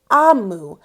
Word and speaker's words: Omu: It's spelled O-M-U, but it's pronounced Amu. Amu is the word from